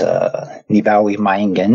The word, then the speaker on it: Nibawi Mayingen: And I was given the name, which is Nibawi Mayingen, is how you say it.